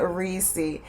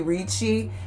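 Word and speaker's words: Ricci: design house of nina reesey and i always pronounce it reesey it may be richie but i always say nina reecey the fragrance is l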